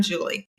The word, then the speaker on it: Jewel E. Ann: and we're talking, I will just say, "I'm Julie."